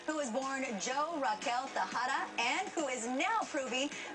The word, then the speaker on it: Tejada: And at that time, I was Raquel Tejada. Of course, I didn't say it like that with a Spanish accent, but Raquel Tejada.